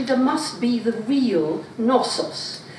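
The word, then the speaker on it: Knossos: must be the real nosos and it's spelled k n k nosos and the story comes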